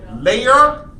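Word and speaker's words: Laer: The first one's name is Layer Trams. I spell that L-A-E-R. That's his first name. Write it down. L-A-E-R. Layer. His last name is Trams.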